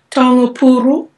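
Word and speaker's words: taonga pūoro: How do you pronounce the name of that instrument one more time? The taongapuru. Taongapuro.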